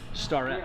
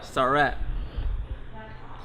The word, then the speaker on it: Starrett: going to do 100 starett starett got to have that star in there he's so he's so